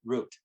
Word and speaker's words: route: that they took and you'll hear me pronounce it route sometimes and other times i'll pronounce it root so i hope that doesn't bother anybody um but uh so they